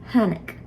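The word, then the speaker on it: tháinig: But anyway, technically speaking, without the H, this would be pronounced tanik. With the H, T combines with the H to create a new sound, hanik.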